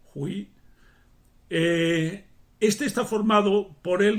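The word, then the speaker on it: 悔: También con un sonido un poco diferente tenemos el hui, que significa instruir o enseñar.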